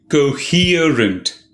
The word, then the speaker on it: coherent: today's word is coherent three syllables the second syllable is stressed coherent it means to be